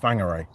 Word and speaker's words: Whangarei: I'm off to see John today, and that would be, you know, for example, Whangarei, which is spelt with a W and pronounced F.